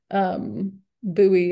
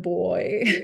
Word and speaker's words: buoy: And I've had to teach myself to say progress instead of progress, and buoy instead of boy, and all of these different ways of pronouncing English.